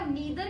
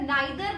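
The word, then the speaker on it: neither: जैसे आपने सुना होगा नीदर नॉर, जिसे बहुत बारी कई जगह नाइदर नॉर भी प्रोनाउंस करते हैं, बट दोनों प्रोनाउंसिएशन सही है, कुछ भी इसमें डिफरेंस नहीं है कि कौन सा गलत है कौन सा सही है। द मियर difference is of accent, एक यूके एक्सेंट है और एक अमेरिकन एक्सेंट है।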